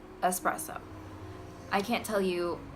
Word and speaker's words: espresso: Espresso is not a thing. It's espresso with an S, not an X, as in xylophone. No X. It's just an S. Espresso.